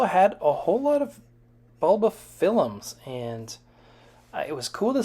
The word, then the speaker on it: Bulbophyllum: And I do want to mention that it's Bulbophyllum, not Bulbophyllum. You know, there seems to be a lot of leeway in the names, in the pronunciation of the names that we give our orchids, but for whatever reason, Bulbophyllum is one of the ones that you'll get your hand slapped if you say it as Bulbophyllum instead of Bulbophyllum.